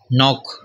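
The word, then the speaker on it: knock: नॉक, ठीक के silent है, नॉक यानी कि दस्तक देना, दरवाज़ा खटखटाना।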